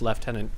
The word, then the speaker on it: lieutenant: But but it's pronounced lieutenant because we're weird like that.